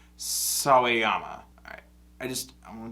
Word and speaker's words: Sawayama: name so i know how to say it sawayama thank you is it going yeah damn it